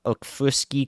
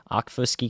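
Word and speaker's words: Okfuskee: extended into Northwestern uh okfuski County aquafoski County one of those two pronunciations is right I've heard it before I think it's Oak Fuski so that will be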